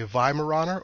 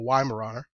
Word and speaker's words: Weimaraner: new owner of a Viara or wiar puppy they actually have two pronunciations for that name viar or yarer they are historically used